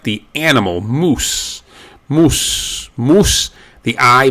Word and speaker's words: animal: The A is generally pronounced A. Animal.